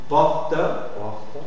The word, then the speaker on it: porte: Aussi, on va lire la consonne E muette, on va la lire en position finale si elle est précédée de deux consonnes prononcées. C'est comme pour la transcription, tu dois mettre le E muet si elle est précédée de deux consonnes prononcées. Par exemple, noble, arbre, porte.